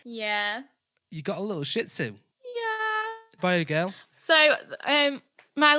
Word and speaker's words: Shih Tzu: you got a little shih tzu by a girl so my little his name is Todd he's a little Shih Tzu emphasis on the first syllable of that he's he's adorable however he